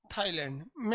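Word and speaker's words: Thailand: के नीचे थाईलैंड है इन थाईलैंड ए साइलेंट उसकी लाश कंबोडिया लाओस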